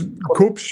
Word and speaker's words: Kubsch: Am I pronouncing that correctly? Yes, Kubsch? It's Kubsch.